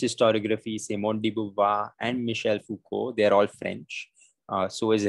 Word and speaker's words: Foucault: again he's french so all of this ault is silent i mean it's the island and so is the l so it's foucault right and it's michelle